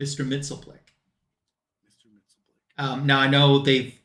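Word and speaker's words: Mxyzptlk: them Mr mitzelpick yep I call him that because the very first time I ever heard her his name pronounced was on the Super Friends cartoon and that's how they said it Mr mitzelpick um now I know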